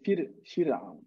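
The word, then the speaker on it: فرعون: Okay, so we don't pronounce the ra of Fir'aun with tafkhim. We pronounce it with tarqiq, so we make it smaller, the ra.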